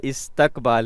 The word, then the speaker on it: استقبال: پر کیا آتا ہے۔ جی استقبال ہے، استقبال نہیں ہے، ٹھیک ہے؟ تے کے نیچے زیر ہے، زبر نہیں ہے، تو یہ استقبال نہیں